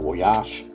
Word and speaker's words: Voyage: And, well, in Brazil, where the car was actually built, it was branded as Volkswagen Voyage, or Voyage, if you want to pronounce it more the French way.